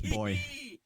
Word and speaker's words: buoy: That's how we say it. We say boy. Boy. I mean, for buoyancy. I mean buoyancy. I say buoyancy, but I think we always said buoy. Buoy. Yeah. Americans say buoy.